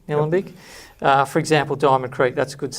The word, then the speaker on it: Nillumbik: To the northeast in Nillumbik, LGA, is that how you pronounce it? Yeah, Nillumbik.